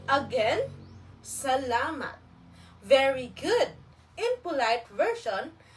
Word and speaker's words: salamat: The pronunciation of this is salamat. Repeat after me. Salamat. Again, salamat.